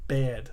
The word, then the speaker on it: Baird: So, Mike Baird resigned today. Nice. I said that wrong. How do you actually say it? I always say it wrong. Bailed. Baird.